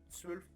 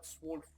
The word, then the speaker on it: zwölf: Alors, lorsqu'on a un tréma sur le O, un umlaut, eh bien, on va prononcer ça E. Sauf que si on n'en a pas, on prononce ça vraiment la lettre O. Donc là, dans ce sens, on a un tréma, donc on prononce Zwölf et non pas Zwolf.